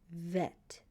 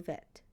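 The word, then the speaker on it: בֵית: You should know the name of the letter bet. When it makes a B sound, vet. When it makes a V sound, the sound of the letters, you should know it makes a B for bet. V for vet.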